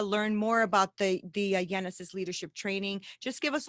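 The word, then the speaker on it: Yenesis: good thank you genesis the word genesis is like the bible word the beginning but it's spelled with a lie right so jenna says y-e-n-e-s-i-s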